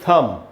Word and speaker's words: thumb: और उसके बाद दोस्तों अंगूठा, तो THUMB, इसमें B साइलेंट होगा, इसलिए इसको थंब नहीं पढ़ेंगे, इसको पढ़ेंगे थम, B साइलेंट है, THUMB, थम का मतलब है अंगूठा।